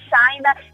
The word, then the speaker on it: Shynna: It's China. It's like some I would say it's um China but with an S when you try to pronounce it.